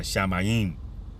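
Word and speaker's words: שָׁמַיִם: And that's the proper pronunciation. It's the Shamayim.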